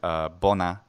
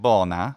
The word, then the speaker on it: bona: polymathy, I've showed how the disyllabic word bona is two short syllables, and pronouncing it bona, which many Italian Latin speakers do, is wrong and is not Latin.